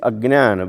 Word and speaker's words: ajnana: Actually, it is ajnana, but it's written the way it is written, is with that S kind of thing is a. So when we don't pronounce it, we don't write it, we just represent by that particular symbol, but it becomes ajnana.